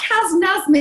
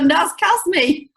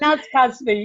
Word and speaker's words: Naz Kazmi: First of all, can I just say my name's Naz, not Taz. Typo there for you. I've got Kaz Nazmi here, but it's the wrong way around. You're Naz Kazmi. It's Naz Kazmi, yeah.